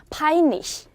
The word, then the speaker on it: peinlich: 그래서 페인이라고 읽지 않고 어떻게 읽어요? 파인이라고 읽어요. 그렇죠? 그리고 리시라고 읽었었죠. 체하 앞에 아, 오, 우, 아우 아닌 것이 나올 때는 강한 흐가 아니라 약한 히 이렇게 발음이 된다.